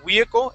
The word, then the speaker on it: vehicle: And so your V sounds, Arkady, you're pronouncing those like a W, saying vehicle and wary. All right, it's a small W sound that you're using. So let's practice the word vehicle.